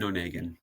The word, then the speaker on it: Onegin: Eugene Onegin. It's not how I would have pronounced it at all, so thanks for the assist.